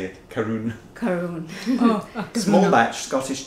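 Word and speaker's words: Caorunn: Karun.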